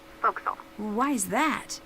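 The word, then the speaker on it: forecastle: ship but it's pronounced voxel why is that try pronouncing it like an english sailor with no formal education bow castle foxel over time it whittled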